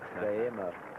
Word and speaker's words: Guillermo: Angus Bragg, and from Baldwin, and He worked out how I could pronounce Guillermo correctly, and the first time I tried it, I stumbled over it. Guillermo.